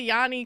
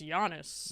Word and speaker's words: Giannis: so I always say Yanni because that's how you pronounce it in Greek and people like clown me like I don't know about basketball because they're like it's Giannis and I'm like you're